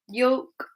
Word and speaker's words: yolk: Okay, so here we have a vowel in the middle of the word, followed by the letter L. Notice it's only the vowels O, U, or A with this rule, not all the vowels.